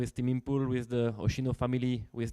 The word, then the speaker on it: Impul: Team Impul. French pronunciation. Yeah. In Japanese, they call it Impal, right?